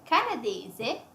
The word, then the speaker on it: canadese: And the nationality is Canadese.